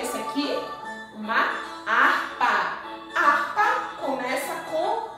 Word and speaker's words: harpa: Harpa começa com H. Nós não ouvimos o som do H na palavra harpa, porque o H é mudo, ele não tem som.